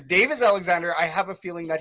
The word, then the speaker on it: Davis Alexander: It's not Alexander Davis. It is Davis Alexander.